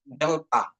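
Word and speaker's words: δέλτα: Terus delta, delta, delta. Seperti mengucapkan TH ya, atau DH, delta, delta.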